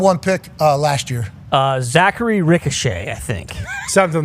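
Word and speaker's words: Risacher: Zachary Ricochet, I think. Something like that, yeah. I know it doesn't look like that's how it's pronounced, but I have heard people say it like that.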